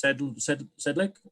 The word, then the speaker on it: Sedlick: We're going to do a special presentation, item 4.1, Neighborhood Watch, with, and the correct pronunciation of your name is Sedlick.